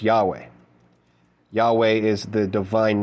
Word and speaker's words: Yahweh: Ay and it's after the I am that comes Yad vave which we pronounce Yahweh.